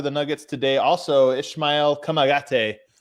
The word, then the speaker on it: Kamagate: Kamagate.